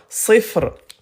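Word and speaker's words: صفر: Alors, écoutez bien à l'arrêt, on va pas prononcer les voyelles. On les écrit mais on les prononce pas. Donc ça devient sifre.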